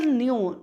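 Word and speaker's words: knew: Birbal न्यू, न्यू में जानता था, के तो साइलेंट ही रहना है, नो की पास्ट टेंस फॉर्म होती है न्यू, जानता था।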